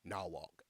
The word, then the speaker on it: Norwalk: Carolina either moved to Norwalk or bridor connectic and that's why everybody who lives in Norwalk that's black pronounce it nwok that's very country but anyway